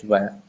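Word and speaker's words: vingt: 20 is van. The pronunciation is van. 20 is van.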